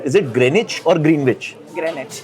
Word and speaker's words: Greenwich: Greenwich. Greenwich. W is silent.